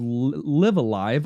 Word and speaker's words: Live A Live: Live? No, they said Live Alive. Live Alive. They said Live Alive. I don't love it. Yes. I love the different pronunciations on either one with the same word, but if they said Live Alive, I guess that's officially it.